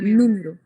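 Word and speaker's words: número: تنطقيها صح م نوميرو احنا قلنا المقطع اللي عليه اثنت اللي بيبقى مسترس عليه اكتر نيرو فهنا الاسنتو على الاو فبنقول نيرو مش مثلا نيرو لا نوميرو ماشي دي تليفونو برضو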